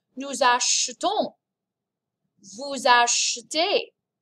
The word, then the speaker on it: achetons: And this is pronounced nous achetons, vous achetez. There's an e, it's barely perceptible. Achetons. Acheter, if I exaggerate it, but really you just kind of gloss over that vowel sound.